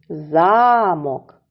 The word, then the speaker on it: замок: голос давайте іще раз замок в цім слові припадає на перший склад і тому змінюється значення